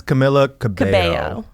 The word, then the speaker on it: Camila Cabello: You And pronounce Camilla, right? I think it's Camila Cabello.